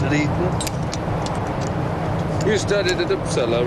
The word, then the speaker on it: Uppsala: You studied at Uppsala, right? That's right. Is that how you pronounce it? Uppsala? Nearly. Uppsala. Uppsala.